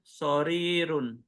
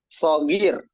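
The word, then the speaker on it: صغير: Al-kitabu sorirun. Wasayyaratu kabirotun. Diulang bacanya. Al-kitabu sorirun. Oh, sorir. Bukan sorir. Al-kitabu. Al-kitabu sorir. Sogir. Sogir.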